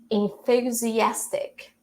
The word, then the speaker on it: enthusiastic: So this one is pronounced as enthusiastic, enthusiastic, or enthusiastic. It depends on the accent. Enthusiastic, enthusiastic, enthusiastic. All right. This th right here, it has the voiceless sound, right?